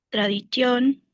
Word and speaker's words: tradition: Ancor ancor tremarqué parlén tradition dupas. Bien, ahí tiene acento la e por eso sí la pronuncia. Y no te olvides que la t suena en tradición.